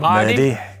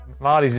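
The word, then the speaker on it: Merthyr: It's not Merdi. Mardi's Mardi. A bit doesn't that mean Mardi? Marty's a bit closer.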